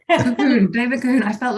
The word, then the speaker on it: Colquhoun: Yes, it's pronounced Cahoon, actually. Don't blame me. Blame some balmy 11th century Scot who thought the LQ should be silent. Colquhoun, David Colquhoun.